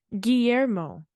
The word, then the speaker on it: Guillermo: It's the you don't pronounce the L though. Guillermo. I've been saying it yet like Guillermo.